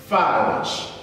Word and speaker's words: falsch: Falsch. That simply means, but I want you to pronounce it, falsch.